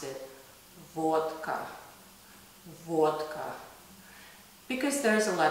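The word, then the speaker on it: водка: into the drinks here and in English they pronounce it vodka in Russian we pronounce it vodka vodka because there's a lot of illness we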